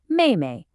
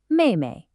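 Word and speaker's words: 妹妹: And finally, younger sister is Maymay. Fourth tone neutral. Maymay.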